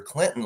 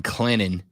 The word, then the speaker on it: Clinton: You're a good dude, but you just got yourself canceled because you pronounced the T in Clinton. I try my best. And I know the saying is the T is silent but sweet.